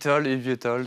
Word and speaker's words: eVTOL: la question, on dit eVTOL, eVTOL, comment on prononce cet acronyme? eVTOL, c'est très bien. Parce ça que moi marche j'ai très dit bien. IFTOL tout à l'heure.